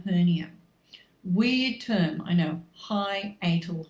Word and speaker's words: hiatal: weird term i know high atal hernia it's spelt how it sounds and this is basically